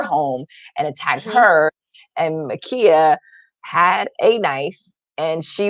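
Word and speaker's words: Ma'Khia: day um makia bryant i got the pronunciation of her name i know we talked about this on the show it's makia 15 year old columbus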